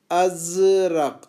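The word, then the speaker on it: أزرق: Blue colour کے لیے ہے ازرق. اب یہ جو ہے نا زال اب یہ ضاد کی طرح نہیں ہے بلکہ یہ جیسے ہم عام طور پر نکالتے ہیں ویسی نکلے گی اس کی آواز.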